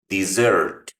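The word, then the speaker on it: dessert: La pronunciación en la palabra postre, el acento va en la segunda, también en la segunda sílaba. Desert. Desert. Acá en esta última. En cambio, si quiero pronunciar desierto, el acento va en la primera acá.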